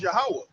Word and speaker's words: Yahweh: now, when you said it in the Paleo Hebrew, like how is it supposed to be pronunciated? It's Yahweh.